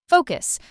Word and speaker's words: focus: Focus. Some learners put the stress in the wrong place, but it's simple. Fo-cus. Stress on the first part.